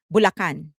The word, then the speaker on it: Bulacan: Bulacan. That's how we pronounce it in the Philippines.